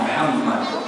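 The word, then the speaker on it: محمد: Kalau Muhammad itu H-nya itu betul-betul H ya.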